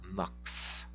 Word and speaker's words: nox: O X você vai sempre pronunciar como kiss, nox.